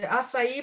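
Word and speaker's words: açaí: The acai bowls? Is that how it's pronounced?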